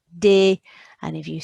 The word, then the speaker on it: des: So ES on the end of a French word is eh. You got a D in front of it, de.